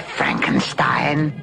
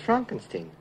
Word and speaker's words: Frankenstein: Frankenstein. Frankenstein. You're putting me on. No, it's pronounced Frankenstein.